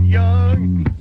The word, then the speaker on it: Jung: Pal Jung. You're good. Pronounce it Young.